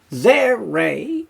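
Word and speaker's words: tsere: it's an e sound zere which is a longer e sound short a sound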